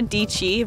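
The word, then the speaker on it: Dietschy: by a youtuber called Sarah deechi rhymes with peachy if you guys know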